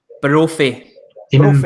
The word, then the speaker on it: Brophy: Brophy. Brophy, isn't it?